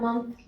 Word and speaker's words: month: وإذا قلنا month لوحدها من غير الإس هي شهر، لأن الإس دلالة على الجمع. شهر. تنطق month، هي تكتب MON لكنها لا تنطق mon، تنطق month.